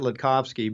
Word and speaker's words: Latkovski: I tell people to say it Latkovski, but I can't expect everybody to be able to pronounce it like I have for all these years.